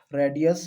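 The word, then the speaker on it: radii: ये इसका स्पेलिंग होता है। आपको ध्यान रखना है इसका। रेडियस।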